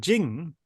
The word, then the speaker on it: Ching: Tzu's Tao Te Ching, the word Jing is usually, in the old system, the way Giles, it's spelt CH, Jing. In the Pinyin, the more usual system these days, it's a J.